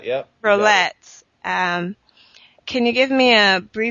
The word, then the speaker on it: Rollet: Rollet, is that how you pronounce it? Rollet, yep. Rollet.